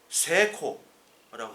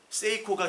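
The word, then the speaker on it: Seiko: 시계 이름 세이코 예 세코라고 합니다 예 세이코가 시계인데 그 성공이란 뜻이에요 성공 근데 세이코 아고 안 하고 실제로는 세코 한다고 말씀을 드렸죠 그리고 여기 제가 요거를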